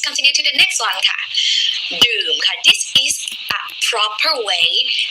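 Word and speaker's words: ดื่ม: you have to use the word doom low tone Doom is to drink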